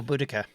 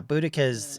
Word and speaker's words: Boudicca: against the Romans oh Boudicca or bodocia depending on who whose pronunciation yeah boudicca's is the more modern pronunciation it was I think the British victorians called bodicea originally uh that's good though